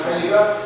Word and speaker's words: 칼리: 이 가리는 아직도 이거 일본의 잔재입니다. 일본 사람들이 이 칼리 발음이 안 돼요. 그래서 가리라고 했어요. 근데 우리나라 표준어는 질소, 인산, 칼리가 맞습니다.